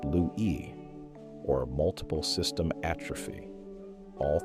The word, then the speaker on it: Lewy: The rest developed dementia with Lewy bodies, and pronounced Lewy, or multiple system atrophy.